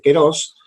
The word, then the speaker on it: kairos: lo suele leer, pero en griego propiamente dicho se escribe kairos y dice keros, y eón, se escribe aión, ¿sí?